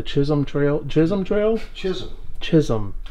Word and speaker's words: Chisholm: Chisholm. It rhymes with Jism.